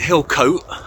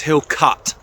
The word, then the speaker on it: Hilcote: Hill cut cury now the reason I'm emphasizing the cut is because in my last video I was calling it Hill coat because to be fair that's how it's spelled and I got a rather rebun ear roll bashing from a local landlord so it's Hill cut so I'm at the